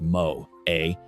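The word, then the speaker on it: moe: They would point to the concept of mo, pronounced mo a, a Japanese term that is crucial to understanding this aspect of anime culture.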